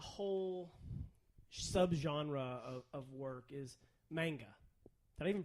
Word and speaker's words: manga: subgenre of work is manga. Did I even pronounce that right? I don't know. Probably. I don't know. I Manga. have almost. It's not mangia. It's not pizza.